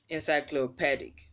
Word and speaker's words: encyclopedic: Encyclopedic. Here, this second syllable from the end, the letter E will sound as E because that syllable is stressed.